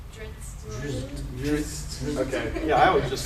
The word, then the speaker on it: Drizzt: Can somebody pronounce the name? Drizzt.